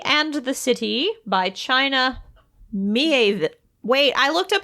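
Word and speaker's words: Miéville: I made my own I always say pronunciation Mieville, guide and but I I don't know don't. why. Because there's an accent grave on the E. Mieville.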